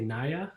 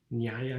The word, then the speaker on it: Nyaya: be hard to pronounce often people would say naya naya is means new nyaya means justice so it was this